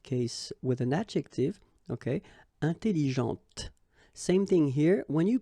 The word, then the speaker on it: intelligente: with an adjective, okay, intelligente. Same thing here. When you put this well, actually you will pronounce the final T, okay, but you don't pronounce this here. Intelligente.